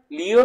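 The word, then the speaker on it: Лев: Charles ডিকেন্সের A tell of টু সিটিজ, রাশিয়ার লিও Tolstoy, বা তার নাম, যেহেতু রাশিয়ান শব্দ, উচ্চারণে অনেক পার্থক্য, কেউ বলে লিও টলস্টয়, কেউ বলে লেভ টলস্টয়, যেটা অপশনে পাবা সেটাই।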